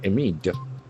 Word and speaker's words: amid: So we get one more word with two syllables and accent falls on the second syllable. So another observation amid.